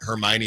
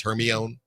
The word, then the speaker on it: Hermione: Did I Did I tell you that for a good part of my life, I kept reading Hermione as Herion?